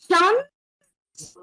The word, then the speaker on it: chance: Isn't it the same spelling we use in English as chance or opportunity? But here it is luck. And the pronunciation is chance. Chance. C and H is always sh in French.